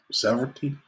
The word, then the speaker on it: severalty: Oh, severalty. It's pronounced like the word. Several. Several. Which screws with you because several means many.